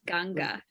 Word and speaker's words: Ganga: clothes in the right thing the ashes yeah pronounced ganga anybody here from the nepal chamber of commerce